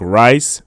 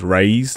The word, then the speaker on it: Rais: some rice and on its name sounds like rice but it's pronounced raised like RA is anyways he has some going